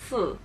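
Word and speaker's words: 思: It's pronounced Si or Si.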